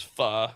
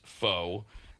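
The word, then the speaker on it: pho: Uh, it is fu, not foe.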